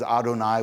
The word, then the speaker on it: Adonai: that's that's the we we just never pronounce that name so what what we say when we see those four letters is Adonai which means Lord right so but that what what you're saying when you say Yahweh you're you're vocalizing the unpronounced letters okay then my next